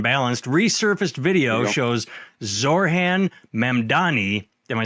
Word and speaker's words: Mamdani: Resurfaced video shows Zorhan Mandani. Am I saying it right? Mdani.